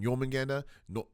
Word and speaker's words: Jormungandr: With the giant snake potentially being Jormungandr. Yeah, that's how you pronounce it.